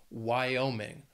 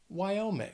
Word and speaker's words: Wyoming: finally there is Wyoming also has three syllables and the stress is on that second syllable Wyoming Wyoming there you have it that